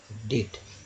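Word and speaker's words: debt: यहाँ भी देखिए डेब्ट पढ़ते हैं, डेबिट पढ़ते हैं, डेबिट, तो वो तो खैर अलग वर्ड होता है, ये डेब्ट है, डेट, क्या पढ़ेंगे, डेट। तो ये जो बी है साइलेंट है।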